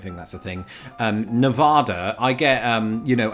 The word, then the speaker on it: Nevada: pronunciation of it and it's so hard for me to change it because it's it's just not natural um I think for British people to to pronounce that second syllable the way uh that is done here in the US, but you pronounce it. Nevada. Which I think is how uh people in Nevada uh would say it.